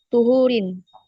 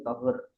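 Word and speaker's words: طهور: Tuhurin. Oke, di sini yang lebih tepat bacanya bukan tuhur ya, tapi tohur. Sama kayak sigot mubalaghah wazannya fa'ulun, sama kayak gofur, sobur dan seterusnya.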